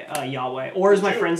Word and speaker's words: Yahweh: right yahweh that's who it is yeah it's yahweh it's okay y h v h but it's pronounced y uh yahweh or is my friends like to call it